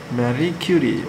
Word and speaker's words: Marie Curie: Marie Curie. Marie Curie. Okay, that's how you pronounce, all right?